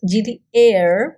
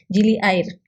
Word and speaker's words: Gili Air: Air para su información, porque es en indonesio, y Air significa agua. Entonces nosotros siempre decimos Gili Air, porque lo pronunciamos en inglés, pero en realidad es Gili Air.